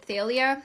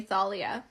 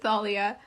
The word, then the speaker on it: Thalia: I watched once by the mythology guy, he pronounced it Thealia. So, I just started saying Thalia. But, I looked it up and the internet has informed me that it's actually Thalia.